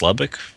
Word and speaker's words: Lubbock: and um la book how is it pronounced the book of the book uh i think it's i think it's lubbock i i remember i've